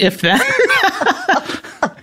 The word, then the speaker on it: If/Then: Although, Diona, you were saying before the show, take the slash out, which is what Axl Rose did for a number of years with Guns N' Roses. Is that right? Yes. Yeah. It's just pronounced if then.